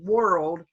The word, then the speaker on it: world: me show you something the word world sounds like this okay there you go okay it's spelled O R but it sounds like RO were world world world okay that's the way you say it alright next we have